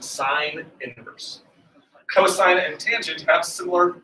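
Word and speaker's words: sin⁻¹: or the opposite of the sine function it's pronounced sine inverse cosine and tangent have similar inverse functions as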